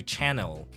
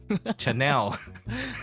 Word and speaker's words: Chanel: money or something yes you can't go to Chanel and say oh you know we went to channel Chanel wow last week right so